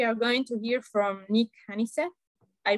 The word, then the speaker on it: Nik Honeysett: So today we are going to hear from Nik Honeysett. I pronounce it right?